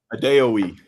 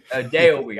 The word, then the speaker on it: Adeoye: how do you pronounce the last name? A day a week. A day a week.